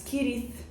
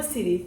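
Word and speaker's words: Cirith: de escrita tar as kirit falar sirit UnG mas não é sirit eu descobri que é kirit porque nos apêndices há uma explicação de como deve ser feita a pronúncia das palavras e no meu vídeo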